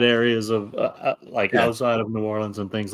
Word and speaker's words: New Orleans: That's a lot more limited to the New Orleans and the Metairie parades and stuff like that.